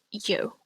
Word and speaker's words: iu: This one's pronounced yo. So the way you pronounce this isn't like yo as in you have in English. So this one is a bit of a tenser sound.